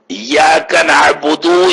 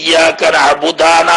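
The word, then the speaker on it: إِيَّاكَ نَعْبُدُ: അതുപോലെ തന്നെ ഇയ്യാക നഅ്ബുദു എന്ന് ലൊമ്മ് കൊണ്ടുച്ചിരിക്കേണ്ടടുത്ത് ഇയാള് പേച്ചിട്ട് ഇയ്യാക നഅ്ബുദാന്നാ പറയുന്നത്. അത് തെറ്റാണ്, ഉച്ചാരണത്തിൽ തെറ്റന്നെ, പക്ഷേ പുതിയൊരു അർത്ഥം വരൂല.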